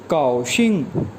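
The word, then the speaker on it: 高兴: GAO first tone, काओ। XING 4 tone, शिंग। काओ शिंग, काओ शिंग, काओ शिंग।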